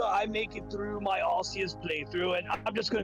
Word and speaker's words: Arceus: There is a correct pronunciation because it's translated, and generally speaking, Arceus is considered more correct due to it being closer to a Latin pronunciation, and considering Arceus' origin and that it is a deity of sorts, the Latin one would be closer to how it should be pronounced.